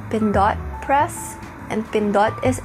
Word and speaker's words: Pindot: and fun fact I'm from the Philippines so pen not press is actually supposed to be pronounced been dot press and fin dot is actually the Filipino